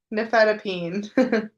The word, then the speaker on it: nifedipine: Nifedipine.